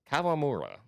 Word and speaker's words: Kawamura: Kawamura. That's the correct pronunciation.